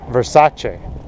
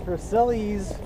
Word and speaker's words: Versailles: something 14th 14th now I think you mean to pronounce it Versace no it's veril this is the this